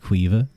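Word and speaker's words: Caoimhe: So C has a K sound, queeve, and MH makes a V sound in Irish.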